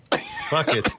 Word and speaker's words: Phuket: Phuket. which can also Fuck be it. pronounced fuck it.